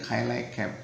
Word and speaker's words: Cilacap: Walaupun orang asing mungkin nyebutnya Semarang, seperti Cilacap kan bacanya sebagian mengatakan Cilacap. Di Cilacap itu bacanya Cilacap gitu ya.